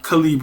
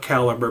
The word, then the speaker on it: Calibre: ebooks man and calib although some people call it caliber but I don't pronounce it that way because I feel like Libre is in the title and Libre is books and free I'm going with Libre So Cal and Alpha